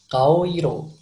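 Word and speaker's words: 顔色: Kalau di bahasa Jepang cara bacanya kaoiro.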